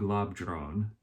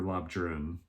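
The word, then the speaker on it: Labdrön: emanation of matri machig lab drone and or lob Jen depending on how you pronounce that a Tibetan nun who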